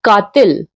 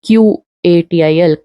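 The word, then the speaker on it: قاتل: Like katil, if we write in Hinglish, will be Katil, but it should be Qatil, katil, and ghen.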